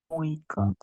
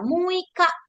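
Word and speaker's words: 六日: Muika. Iya, muika. Tetap kalau ditulis bahasa Jepang pakainya yang nichi ya. Pakai kanji nichi. Tapi bacanya adalah muika.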